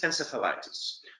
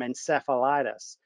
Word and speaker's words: encephalitis: word and of course i go back to the greek root and you know it's in kefalon it's not cephalon so i'm gonna i must